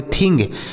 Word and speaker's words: thing: देखिएगा आगे, देखिए अब देखिए यहाँ पर क्या है, देखिए THING, तो इसे क्या पढ़ेंगे? TS से थौ, आई है तो छोटी ई की मात्रा, N से अंक की मात्रा, G से ग, तो इसे पढ़ेंगे थिंग।